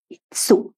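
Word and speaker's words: いつ: ইৎসু, ই এবং সু। সু বড় সু, যেটা TSUর মতো উচ্চারণ হবে যখন আরেকটা অক্ষরের পর হবে ইৎসু, তাই না?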